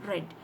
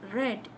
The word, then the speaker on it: read: it is present tense when you pronounce it as red it is past tense so i read a